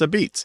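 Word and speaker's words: apizza: Yeah, it's from a probably Neapolitan dialect of Italian where la pizza or una pizza goes shortened to a pizza. And then because there's lenition for that final syllable, and the P is, those labial sounds do whatever the hell they want. So those other transformations came up, and it's a beets.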